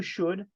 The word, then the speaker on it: should: All right, let's go to should. Should es como deber, pero es más como una recomendación. You should take your medicine. La L aquí, muchachos, no se pronuncia.